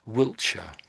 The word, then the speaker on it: Wiltshire: So Wiltshire Wiltshire that's that's pretty much what you're saying. Give it another go. Wiltshire. Wilshire Wiltshire.